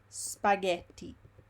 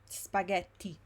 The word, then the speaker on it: spaghetti: Moving on, let's see another pattern with G, and it's the pattern that we find in words like spaghetti, spaghetti. GH in Italian always make the sound GHE always make the sound ge, and GHI always make the sound gi.